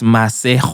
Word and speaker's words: Masego: It's Masejo. All right? Oh, Masejo. Yeah, which is Masego.